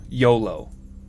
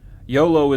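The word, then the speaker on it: Iolo: actually in the lore YOLO I believe that is the proper pronunciation and this is going going back a little ways now but it was in one of the manuals of the game talking about the Companions and it gives you pronunciations for the for the characters YOLO is the correct pronunciation I think yeah never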